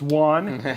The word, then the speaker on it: Wong: We're going to get to learn a lot about Juan, which first and foremost, his name is Juan. Guys, we were mispronouncing it in chat, and you should have gotten it right.